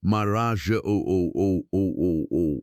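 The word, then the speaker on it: Marajó: Considered the island of Maraja, pronounced Maraja O.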